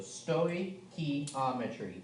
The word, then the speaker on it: stoichiometry: just copy from somebody so um so it's pronounced stoy and then think of key um e and tree so sto key ometry stochiometry okay and so that's what this unit will